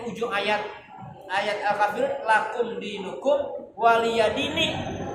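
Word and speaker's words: وَلِيَ دِينِ: Makanya di ujung ayat Al-Kafirun lakum dinukum waliyadini. Nih bacanya jangan waliyadina. Itu nih kasroh nya dibuang.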